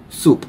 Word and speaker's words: soup: Soup. Soup. Yeah. Soup, which is not soap. Not soap. Many people pronounce this wrongly.